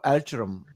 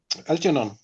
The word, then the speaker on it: Algernon: The next song is Flowers for Algeron, right? Is this right pronounced? Algernon. Algernon? Algeron? Algernon. It's a mouse.